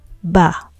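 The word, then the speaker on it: בַּ: But when in a context where it means in the, by, or by the, we pronounce it as ba.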